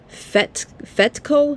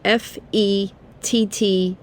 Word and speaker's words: Fettke: Gary Fettke. It's spelled Fettke.